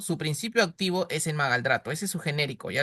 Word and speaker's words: magaldrato: malga, ¿cómo se pronuncia? Magaldrato, magaldrato.